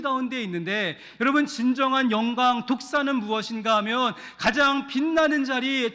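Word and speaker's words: δόξα: 영광이 헬라어로 독사입니다. 독사. 쉽죠? 독을 가진 뱀이라는 뜻이 아니라 그 발음이 독사입니다. 독사.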